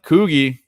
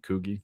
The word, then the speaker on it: Coogi: I go out but koui was the I think that's how you say it right Coogi koui that's how I've always said it yep might have